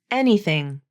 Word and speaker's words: anything: as in red vowel anything anything don't let the spelling fool you it's spelled the letter A just like the word any but it's pronounced like e just like the sound